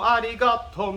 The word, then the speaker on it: arigato: on that first syllable so if you've heard tomo arigato mister it's not doma rigato arigato putting a lot of emphasis on that first hill the second one